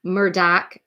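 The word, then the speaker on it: Murdaugh: Murdoch murders podcast um Murdoch is how they say it but it's spelled like murder um it's one of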